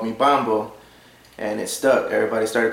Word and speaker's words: Bambo: bambo it's spelled b-a-m-b-o a lot of people like to say bamboo but it's bambo it's pronounced bombo that name was given